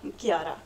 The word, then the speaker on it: Chiara: name Sig how do you say your name Kiara okay hey guys it's Gabe from the kitchen